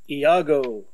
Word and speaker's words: Iago: fated fella this is a comic by famous pronounce it for me please Iago Iago gesture see Bane says it writes it's